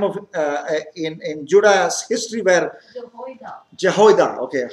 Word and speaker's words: Jehoiada: Jehoiada. Okay, how will you pronounce it?